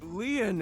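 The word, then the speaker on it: Lin: stay by your side my name lean is spelled l i n in French lean means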